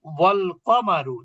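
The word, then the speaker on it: وَالْقَمَرُ: ওয়াল কমারু, তার মানে কি হামজাটা আমরা উচ্চারণ করি না।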